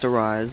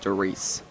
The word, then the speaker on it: Der Riese: a world record this is World of War Darice uh it's not pronounced theise it's pronounced theice uh which is German for the giant so